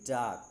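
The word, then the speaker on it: dark: ডাক ডাক ডার্ক ডাক ডাক ডাক বলছে আমরা ডার্ক বলি কিন্তু একচুয়ালি ডাক আর এর উচ্চারণ তো সাউন্ড তো হয় না অন্ধকার ডাক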